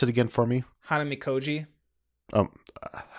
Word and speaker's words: Hanamikoji: Pronounce it again for me. Hanamikoji. Um, Hanamikoji.